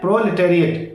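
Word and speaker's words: proletariat: प्रोलेटेरिएट क्या उच्चारण है? प्रोलेटेरिएट।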